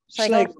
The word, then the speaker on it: Schlegel: Professor Keller is a registered dietitian professor, and I'm sorry, I'm gonna mispronounce this, Schlegel, is that Schlegel. It? Schlegel, sorry, thank you.